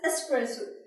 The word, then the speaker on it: espresso: That is espresso. Simply stress on S, not X.